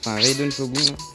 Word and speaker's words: Raiden Shogun: Et j'ai réussi à drop Raiden Shogun. C'est comme ça que ça se prononce.